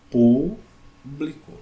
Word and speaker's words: público: Eu pego essa palavra e faço uma separação silábica dela. Público. Ok? Então, ó. Última, penúltima, antepenúltima sílaba tônica.